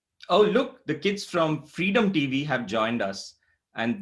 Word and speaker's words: fREADom: In fact, isn't it strange that our show is called Freedom but it's spelled with an A?